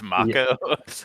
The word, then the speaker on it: Mako: acting and you're like, wait a second, it's Mako.